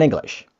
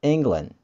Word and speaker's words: England: Inggris untuk negara, apabila kita ucapkan dalam bahasa Inggris, itu bukan English, but England. And how to pronounce it? We say England. Nah, E-nya di depan berubah menjadi I. England. England. Not English.